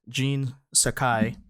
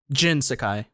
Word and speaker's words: Jin Sakai: daisuke uh tsuji as jean sakai jin sakai i said gene i'm sorry uh logan cunningham as